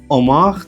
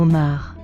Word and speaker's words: homard: But, lobster is homard or homard. Homard. D is usually silent, and the S is silent.